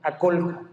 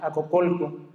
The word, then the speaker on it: Aculco: Ya veíamos al principio que también se le puede llamar Acocolco. Simplemente son formas de pronunciar el mismo nombre.